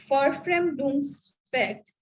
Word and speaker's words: Verfremdungseffekt: The other term, that is alienation effect or estrangement effect, okay, which is called Verfremdungseffekt. V is pronounced as Ver in in German. So it is Verfremdungseffekt, which is also called estrangement effect or alienation effect, which Brecht talks about.